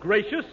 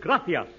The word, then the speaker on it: gracias: it please okay muchas gracias amigo no no no not gracious that word is gracias you see in Spanish the C is pronounced th graffia you see th